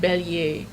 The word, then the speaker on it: bélier: So the I-E-R here becomes Y-E-A, and the double L becomes a Y, because that is how you pronounce it, right? That's how you say it, sure. Yeah, like bélier, bélier, there's a y, bélier, right? There's a y in there somewhere, so that's where the Y-E-A comes from.